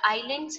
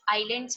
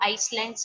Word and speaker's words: islands: The islands हम pronounce कैसे करते हैं? यहाँ islands में s जो होता है silent होता है. हम इसको Icelands नहीं बोलते हैं, हम इसको बोलते हैं islands.